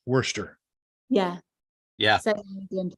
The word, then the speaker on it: Worcester: I mean, there's a town in Massachusetts it's spelled Worcestershire. Yeah. It's pronounced Worcester.